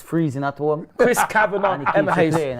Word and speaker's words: Kavanagh: Kavinga? Kavanagh.